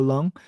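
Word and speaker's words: Leung: Officer Miss Julia uh is that luang how do you pronounce that it sounds like lung yeah okay uh Miss Julia lung the upcoming guidelines for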